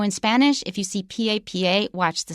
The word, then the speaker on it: papa: If you change it to la and you change the stress, it's la papa, which is a potato. But if you have el papa, then it becomes the Pope.